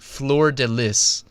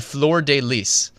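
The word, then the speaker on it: fleur-de-lis: came to understand the FL deliss okay yeah I just butchered that but it's called the floor deis fleur-de- l s you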